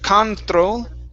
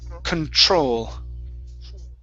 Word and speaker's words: control: So instead of control, it's control.